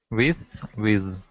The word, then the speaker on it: with: With.